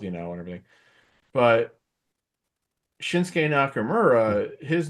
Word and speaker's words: Shinsuke: know and everything but shinsuke Nakamura his name is spelled the same way in terms of like the last several letters obviously the beginning is different but they don't say shinuki they say shinsuke you know so it's